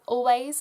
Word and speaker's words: Alvvays: Really into Always at the moment. It's spelled Alvays, I guess. It's Alvvays, because the two V's make up a W.